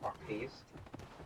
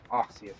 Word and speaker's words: Arceus: Pokemon Legends Arceus or Arceus. Some people say it like Arceus, and some people say Arceus.